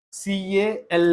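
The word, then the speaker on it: calm: came doesn't silent p a l m Palm c a l m Cal L silent b a l m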